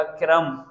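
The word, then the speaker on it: crumb: कैसे ये मैंने कहा क्रम क्रम ब नहीं होता ब नहीं ये यहां पर जो ब है ना भी साइलेंट है क्रम इसको हम बोलते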